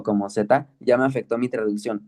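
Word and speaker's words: ζ: Algunos la pronuncian como teta, otros como Z, pero lo correcto es Z. Pones la, el sonido es como en el inglés, pones la lengua topando con los alveolares superiores, que son los dientes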